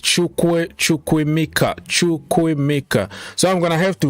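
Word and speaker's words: Chukwuemeka: He said to pronounce it. It's Chukwemeka.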